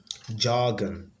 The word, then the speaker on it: jargon: can't be the answer jargon so the first syllable is stressed here the first syllable